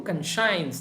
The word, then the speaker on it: conscience: Yeah, her conscience, you see, conscience alike, oh, conscience, the pronunciation, C-O-N-S-S-C-I-E-N-C, science comes there, but pronunciation is conscience, was battered and bruised, right?